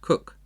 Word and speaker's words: Coke: so declared sir Edward cook spelled Coke c-o-k-e but pronounced cook chief justice to James